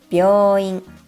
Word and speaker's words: 病院: 病院, a hospital. It's important to get the contracted sound part right because without it, 美容院 means a hair salon, a totally different facility.